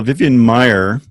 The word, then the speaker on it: Vivian Maier: this how you came to be interested in Vivian Mayer there's the american street photographer and what captured you about her story well vivian maier which is spelled ma i er worked as a nanny